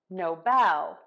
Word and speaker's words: Nobel: for many other things we are going to switch the stress to syllable two Nobel Nobel no Bell so